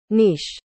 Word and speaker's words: niche: Anong nich mo Anong nich mo Oops ear loves muli pala yung pagpronounce ko nung word na ni i c Akala ko nich ang damang pronounce pala ay ito nish nish nish Ayun Ganun pala nish